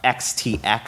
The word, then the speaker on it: XTX: check him out um XTX so that's exactly as it's spell it sounds as spelled x-ray Tango x-ray uh she's a Fant fantastic